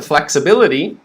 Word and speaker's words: flexibility: ease are very quick we go to flexibility we have minor stress on the first okay so that doesn't really change flexa flexor still same stays the same but now we have flexa and now we have major stress bill flex-a-bill flexibil flex and then